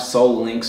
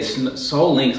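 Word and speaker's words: Sole Links: Now I have Soul Links, so to everyone that watches, you should get Soul Links. It's spelled S-O-L-E, like a shoe, Soul Links.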